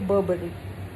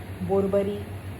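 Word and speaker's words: Burberry: Third brand है बर्बरी। इसको भी लोग बर्बरी, बोरबरी, ब्यूबरी, BU से स्टार्ट होता है, बट the actual pronunciation is बर्बरी, बर्बरी।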